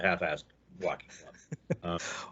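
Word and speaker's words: Half Fast Walking Club: an S Walking Club, which everybody in New Orleans, of course, pronounces the Half-Assed Walking Club.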